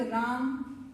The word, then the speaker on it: रामः: जब उच्चारण करेंगे आप तो विसर्ग से काय की आवाज निकलेगी, आपके ह की आवाज निकलेगी। आपका हिंदी का शब्द राम, वृक्ष, सूर्य और विद्यालय,